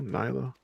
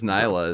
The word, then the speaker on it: Nyla: that was uh nyla am i saying your name right now nilo like i said it wrong she says nyla is the right way okay nila i i just i